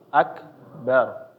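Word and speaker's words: أكبر: itu ketemu ro sukun maka dia dibacanya tebal seperti tadi Allahu akbar bar bar ya bar jangan membacanya menjadi tipis bar bar ya atau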